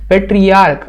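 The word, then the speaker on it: patriarch: भले CH लगा है पर प्रोनाउंसिएशन कैसे होता है, क के जैसे होता है, तो केवल एक सिंगल S लगेगा। पेट्रियार्क, आप लोग सुने होंगे पेट्रियार्क वर्ग या पेट्रियार्की,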